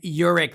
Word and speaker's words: Yurik: is the ceo of electric royalties mr urich how are you i'm doing great thanks